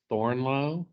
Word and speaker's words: Thornlow: Is your last name pronounced Thornlow? That's correct.